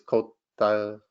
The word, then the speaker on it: Côte d'Ivoire: But the French way is Côte d'Ivoire.